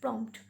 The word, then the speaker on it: prompt: Here also P is slightly pronounced. Prompt.